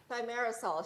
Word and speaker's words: Thimerosal: Thanks for being on the show, and we'll have to get the correct pronunciation from the expert, from the doctor here. Thimerosal, Cheryl. Thimerosal, okay, good to know.